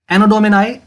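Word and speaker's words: Anno Domini: एनोडोमिनाई, एनोडोमिनाई इसकी प्रोनाउंसिएशन आप कर लेंगे, एनोडोमिनी भी कुछ इसको लोग कहते हैं, तो दैट्स ओके, कोई इसके साथ प्रॉब्लम नहीं है।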